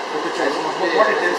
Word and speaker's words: Pothichoru: Am I pronouncing it right? Pothichoru. Pothichoru.